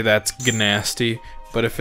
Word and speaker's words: Gnasty: That's gnasty.